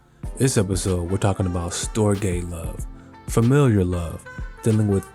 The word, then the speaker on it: storge: We're talking today about Storge Love. Rhymes with agape love, S-T-R-O-G-E.